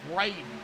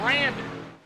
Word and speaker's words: Brandon: I keep calling him Braden. And I don't know why. It's Brandon. It's spelled different than mine, my middle name, but it's the same thing.